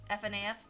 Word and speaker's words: FNAF: F N AF. That's four syllables. That's too much. That's I would shorten it to two syllables. I just say FNAF.